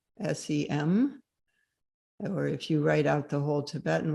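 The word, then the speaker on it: sems: Another word for that is sem, s e m.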